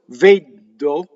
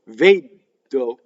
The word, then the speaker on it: vedo: Notice that it's a single D. So, vedo is double D. If you stop D, vedo, it's double D, and it's wrong. Vedo, you don't stop.